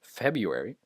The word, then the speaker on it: February: little different here therapeutic January and February uh in in American English at least the r is pronounced like a here the you can't can't hear the are it's it's turned into a u sound just February uh the I sound